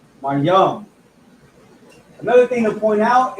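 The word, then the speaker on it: מים: And this is pronounced Ma Yum. Ma Yum.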